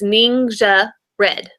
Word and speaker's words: NingXia Red: So, and when you see the name, you're kind of like, uh, how do you pronounce that? So, it's ninja red, right?